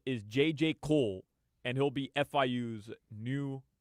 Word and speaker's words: Kohl: It's spelled Kohl. Oh. Ooh. That changes everything. Yeah. That's actually Jewish. J.J. Cole. Cole, Kohl is a Jewish last name.